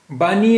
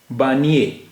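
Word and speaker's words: بانیِ: कश्मीर कश्मीर की घाटी बानी इस्लाम बानी माने संस्थापक फाउंडर तो य के नीचे जेर है तो अब यह हो गया बानि बानी नहीं बानि इस्लाम यानी ये जो ए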